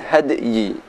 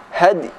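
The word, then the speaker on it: الهدي: Bukan had tapi hadi.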